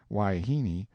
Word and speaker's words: wahine: harem full of hyenas wahine most generally pronounced waihini seems to answer for